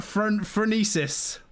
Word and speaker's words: Phronesis: Phronesis.